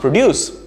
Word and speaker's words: produce: p-r-o-d-u-c-e and you'd say you know it's only pronounced produce again you'd be right half of the time